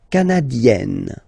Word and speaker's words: canadienne: Le Canada, canadien, yin, here, canadien, canadienne, yen. Remember, here you've got double N, so you've got to open the so it will become canadienne.